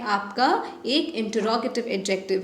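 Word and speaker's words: interrogative: Next है student आपका इंटेरोगेटिव adjective. इंटेरोगेटिव नहीं कहते हैं, इंटरोगेटिव कहते हैं, ठीक है, करेक्ट प्रोनाउंसिएशन इंटरोगेटिव है।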